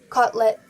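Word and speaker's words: котлета: In the common Russian language, kotleta? That's how it's pronounced.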